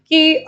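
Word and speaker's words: coup: Many of your African countries also, जहां पे हम मिलिट्री कू की बात करते हैं, the P alphabet is silent, military कू की बात करते हैं।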